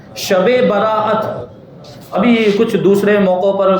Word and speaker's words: شب براءت: براءت کہا جاتا ہے۔ تو صحیح تلفظ کیا ہے؟ شب براءت۔ ابھی کچھ دوسرے موقعوں